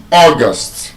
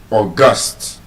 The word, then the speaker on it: August: The month is August, first syllable. But then you see as an adjective, which means very important or special it is stressed on the second syllable, August.